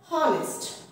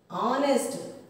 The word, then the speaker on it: honest: Honest. Our. How we pronounce the word? Honest. H is silent.